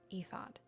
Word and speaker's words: Ephod: Ephod, I don't know. E days. I don't think it's that. Um, I don't know how to pronounce that. EOD. Yes. Okay. Ephod.